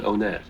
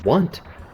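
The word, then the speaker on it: Onett: like Entourage yeah wait how do you pronounce the first town of the game uh it could be one at their ownette I've always done onet oh both of those are incorrect I'm sorry the correct answer is actually want want it's the truth so listen so listen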